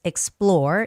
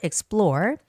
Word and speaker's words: explore: And the word explore, this word also has the second syllable stress, explore, explore.